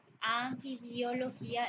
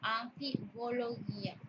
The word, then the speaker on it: anfibología: de amenazo es amenaza la palabra anfibiología es incorrecto lo correcto es decir anfibología anfibología aeródromo debatir la o